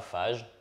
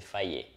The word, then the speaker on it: Fage: I used to pronounce well fudge and a Alors c'est pas fage, c'est faillé.